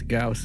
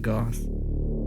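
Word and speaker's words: Gauss: story how do you how did you discover that it's gaus and not Goss uh I don't I know that's just how it's pronounced oh okay I I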